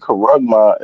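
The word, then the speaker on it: χάραγμα: But the word karagma is how you say it in Greek.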